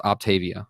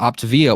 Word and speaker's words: Optavia: eopt a it looks like it should be pronounced Octavia but it's opt to via and that's why they put freaking opt and bolts you'll say op the OP the via instead of Octavia but opt via what they're selling to you is there people